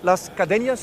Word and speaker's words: Las Cadenas: Legend winning a Grand Prix, Las Cadenas. I don't know if I say it right. Yeah, it's good. Yeah, that's you say it like that.